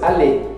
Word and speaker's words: aller: Aller. Aller não pronuncia o R e é um verbo.